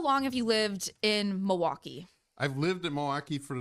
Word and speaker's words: Milwaukee: Is there an L in? That seems to be the big thing is how do you pronounce Milwaukee, Matt? Milwaukee. I don't know. I think there's an L in it.